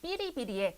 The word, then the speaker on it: 哔哩哔哩: 근데 실제로 중국어 발음이 삐리비리에 가깝습니다.